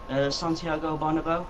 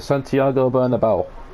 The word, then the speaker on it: Santiago Bernabéu: to plan so it's hot I can never pronounce the stadium Santiago Bonneville absolutely Lyceus the Santiago bernabéu there you go I could never date its